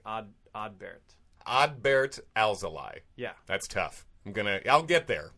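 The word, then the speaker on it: Alzolay: point he mentioned like if you've noticed that we've been saying Al's Ally tonight it's not because we're getting it wrong it's because we like checked with him and it's like odd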